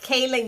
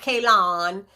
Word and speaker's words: Kailyn: being a minority kailyn it's pronounced kaylin y'all it's not k lon it's kaylynn oh it's been like that